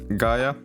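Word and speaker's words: Gaea: didn't work for some reason but it's uh Gaia it's pronounced Gaia it's how the the like Latin word is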